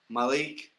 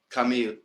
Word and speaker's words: Kamil: So I went Malik, but it's Kamil.